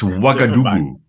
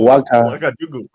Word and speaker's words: Ouagadougou: It's Ouagadougou. Oh, Ouagadougou. Ouagadougou. Yeah, and you spell it O-U.